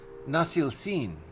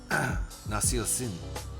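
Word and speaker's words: Nasılsın: Nasil Sin. Nasil Sin. I switched the wrong ones, didn't I? So you said it right the first time and forgot the S the second time.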